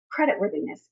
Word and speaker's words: creditworthiness: One, the rhythm, creditworthiness, ba-da-da-da-da, and the TH. This TH sounds like your phone sitting on a table and vibrating. Creditworthiness.